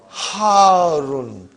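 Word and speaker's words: حارٌّ: Al-labanu harun. Harun. Because the shadda is on ra. So you got to pronounce it properly.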